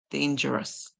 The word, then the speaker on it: dangerous: The O is silent, and then we hear us. So let's say danger, us, danger, us, dangerous, dangerous.